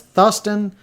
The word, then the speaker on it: Thruston: His acquaintance pronounced his name as Thuston.